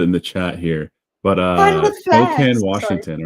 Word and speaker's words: Spokane: Yeah, Yes, it Lucifer, does it's seem like you're pronounced asking for it. Spokane, not Okay. Spokane.